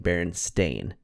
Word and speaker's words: Berenstain: spelled that way but I remember her saying Berenstain and saying it was pronounced stain even though it was spelled with an e and I was like